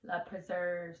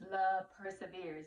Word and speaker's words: Love Persevere: but also you guys people always pronounce love persevere is one when they always say preserves know it's love persevere love is not preserved love is everlasting it is always persevering and what else oh